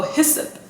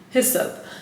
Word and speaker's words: hyssop: Oh, hyssop. Okay. Hyssop.